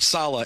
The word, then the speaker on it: Saleh: and second of all we all say sala is that exactly how your family pronounces your name yep no that's exactly right um uh i i'm